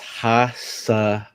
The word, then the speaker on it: Hassanin: I'll give you the pronunciation. Ready? Mm-hmm. Ahmed, and then it's Hassanin.